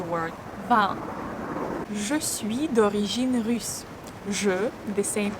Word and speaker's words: russe: D'origine russe. The same U sound.